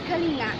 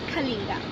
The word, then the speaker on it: Kalinga: so-called Selena without riders who pronounced polina's kalenna not Kalinga however Selena and apoyar